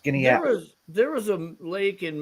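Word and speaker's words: Skaneateles: it right now, but the pronunciation is Skinnyatles. But it doesn't look that way when it's spelled out. But that's how it's pronounced. Skinnyatles.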